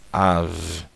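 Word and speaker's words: אָב: Então fica Av, Av. E Av quer dizer pai, ok?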